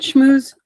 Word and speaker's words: Schmus: Schmo is that how you say it Schmo yes okay good I was looking uh before